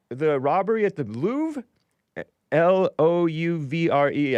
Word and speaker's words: Louvre: L O U V R E. I think it's pronounced the Louvre.